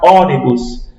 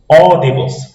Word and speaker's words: ônibus: Por exemplo, fechei o nariz e vou pronunciar ônibus. Veja que você percebe que o O saiu mais forte. Ó. Ônibus.